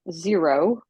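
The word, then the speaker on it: Xero: the thing and uh the other two are um zero uh spelled with an x x e r o um and that's basically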